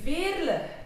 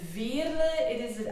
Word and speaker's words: Veerle: call me Veerle, but it is Veerle. I know it's a bit difficult to pronounce, but it's a typical Flemish name.